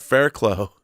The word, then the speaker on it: Fairclough: great list oh Dave and he says that fairclough is pronounced Fair Clough yeah it's like you know